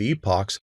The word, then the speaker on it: epoch: of the number of epochs over which no improvement is observed this is specified in the early stopping rounds parameter now the word i'm using here is epoc and it's spelled e